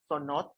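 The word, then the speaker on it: ts'ono'ot: Estos cenotes en maya se pronuncia sonot y su significado literalmente es que se encuentra un hoyo o un agujero en el suelo.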